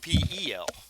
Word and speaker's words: Opel: street and there's an Opal truck coming your way. Um, what do you guys want to do? When you say opal, is that OPAL? Is that how you say it? OPEL. OPEL. Okay, Yeah, gotcha.